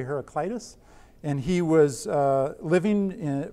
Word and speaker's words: Heraclitus: There's a pre-Socratic philosopher by the name of, again, two pronunciations, either Heraclitus or Heraclitus, and I'm going to say Heraclitus.